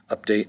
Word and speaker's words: update: Update has 2 syllables. Update. Update. Update. The first syllable has an update has the stress.